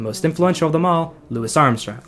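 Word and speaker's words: Louis Armstrong: influential of them all, Lewis Armstrong, which is how I'm going to be pronouncing his name for the rest of the video because that's that's the right way. Lewis Armstrong.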